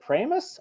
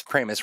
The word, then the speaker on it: Primus: have special rules um is it premise oh geez I'm sorry it's Primus rhymes with famous yeah well so that's